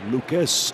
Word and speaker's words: Lukes: hits in three tries it's Lucas at second base that's how you pronounce his last name it's his big league